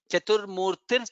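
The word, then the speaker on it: चतुर्मूर्तिः: I have not highlighted, Chaturmurtihi Chaturbahuhu. Therefore, Rakara should come there. Chaturmurtir Chaturbahuhu.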